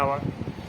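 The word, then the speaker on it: hour: 10 I waited for আওয়ার আছে, আবার ওই যে সাইলেন্ট এইচ সেটা উচ্চারণ হচ্ছে না বলে অ্যান হবে, অ্যান আওয়ার।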